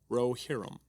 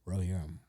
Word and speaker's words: Rohirrim: Rohirrim. Rohirrim.